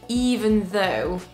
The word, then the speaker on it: even though: le monde c'est ce mot là et c'est even though even alors on découpe let all sounds sound